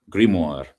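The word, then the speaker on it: grimoire: Like uh I I don't really know how it's pronounced in English. How do you spell it? How do you spell it? G R I M O I R E in Oh wow. The French grimmoir.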